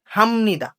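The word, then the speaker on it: 합니다: তো যেহেতু আমাদের বিয়ের পরে নিয়ন আছে। তাহলে আমাদের এই যে নিচে যে বিয়গটা আছে এই বিয়গটা মিয়মের ম এর মত উচ্চারণ হবে। মিয়মের ম এর মত উচ্চারণ হবে। তাহলে উচ্চারণ কি হবে? হামনিদা। কি উচ্চারণ হবে? হামনিদা।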